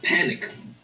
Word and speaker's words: panicked: For example, if some customers in a very small country are panicked and they try to Now see, withdraw. that's panicked, right? So you've got to hear that final T.